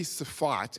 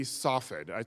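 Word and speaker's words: Safed: Called in Hebrews fought I actually don't know how to say it um in English because Americans and Brits don't like Words that start uh but it might be safat and it might be softed it's spelled soffit which also looks like it spells saved but I'm going to call it spot it's a little Backwater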